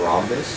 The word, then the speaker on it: rhombus: four bars of this rhombus there is a rhombus it has a silent h r h o m